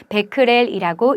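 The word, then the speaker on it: 베크렐: 볼 수 있습니다 참고로 숫자 뒤에 보이는 알파벳은 방사선의 세기를 나타내는 단위 중 하나로 데크렐이라고 읽습니다 이렇듯 자연환경에 존재하는 방사선을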